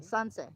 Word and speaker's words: Sansei: Oh my gosh, Sensei. Did I say it right? Sensei, Sensei. Sansei. Yeah, Okay. because it's an A, not an E.